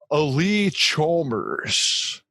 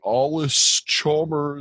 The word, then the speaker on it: Allis Chalmers: Ali Chalmers. Not a tractor. That actually is a tractor. Damn it. Oh. It's Allis. It might be Allis Chalmers.